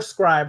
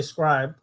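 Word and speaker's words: Scribd: Well, on Scrib, you can actually, Scrib or Scribe, however you want to pronounce it. The company says Scrib. However, I used to say Scribe.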